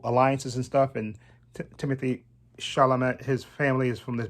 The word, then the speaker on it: Chalamet: Timothy Chalamet. I think I pronounced his name right. I know he's French. Chalamet.